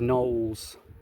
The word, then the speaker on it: Knowles: Yeah, I learned that fact on a YouTube video called Dave Knowles Filmmaker, I think he's called. Knowles with a silent K at the beginning.